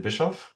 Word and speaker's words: Bischoff: My name is Bishop. So you pronounced my name quite well.